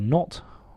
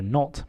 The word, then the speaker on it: knot: In its physical meaning, we can say he tied a knot or a bow. Note that the K in knot is silent.